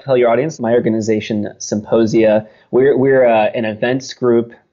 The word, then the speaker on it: Psymposia: magazine at symposia decom which is symposia spelled with a p ps ym p o